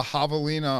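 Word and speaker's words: Javelina: up to the uh it's called the Havalina 100 and they spell it with Double Js um and it's in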